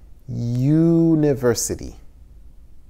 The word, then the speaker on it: university: difficult think about it university good job a university a university why a university because the word university begins with a ye university that's a consonant it's like a y university if it was university